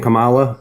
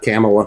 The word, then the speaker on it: Kamala: It's literally It's literally You purposefully miss It's purposefully mispronouncing your name. That's just how I say it. That's how I identify. I identify as saying Camala and not Camela. Kamla.